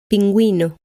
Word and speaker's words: pingüino: When the U is pronounced, the U is written with 2 dots on top of it.